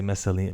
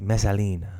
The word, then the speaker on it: Messalina: Why did I say Messalina? Messalina.